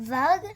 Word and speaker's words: vug: Means the same thing, but Vug? yep. Good job, bud. Yeah, I know where I used that word. I know it's Because a little... vug rhymes with slug.